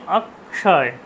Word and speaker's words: অক্ষয়: কিন্তু আমরা বলবো কি অক্ষয়, অক্ষয়, আ ক মূর্ধন্য অক্ষয়, তাহলে উচ্চারণটা হচ্ছে অক্ষয়, অক্ষয়, অক্ষয়, ঠিক আছে? এইরকম কিন্তু উচ্চারণটা করতে হবে।